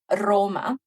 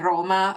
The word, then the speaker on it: Roma: to pronounce is to put the D instead of an R. So even with um other word like Roma we can train our